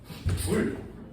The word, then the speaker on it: 줄: 단위는 J를 크게 쓰고 읽기로는 줄이라고 읽습니다. 줄.